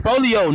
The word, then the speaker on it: Foolio: Bro, it's Foolio, not Foolio, bro. Foolio, don't say his name wrong.